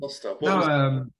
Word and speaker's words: Clusta: Clusta.